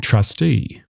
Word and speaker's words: trustee: For example, take the words trusty and trustee. Trustee ends with the long stressed vowel represented by the letter eat. Trusty ends with the shorter unstressed vowel.